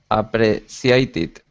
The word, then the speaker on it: appreciated: Appreciated. Appreciated. The Appreciated. Appreciated. Appreciated. Yeah, the C in here is it makes an SH sound.